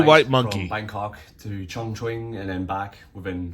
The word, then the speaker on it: Chongqing: They had a bit of an Disclaimer, I mispronounced Chongqing. I think it's actually Chongqing uh many times in this video.